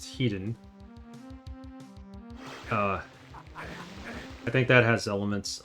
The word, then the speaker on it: Hedon: And I think Head On, which really should be pronounced Hedon.